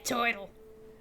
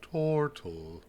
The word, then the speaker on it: Tortle: Are we there, Turtle? It's pronounced Tortle.